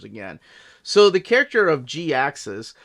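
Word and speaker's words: Jhiaxus: so the character of G axis spelled with a JH I a XU s by the way is a play on the word g ax us like he knew we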